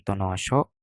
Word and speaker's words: Tonosho: Kita akan turun di pelabuhan Tonosho. Bagaimana kak bacanya? Tonoso.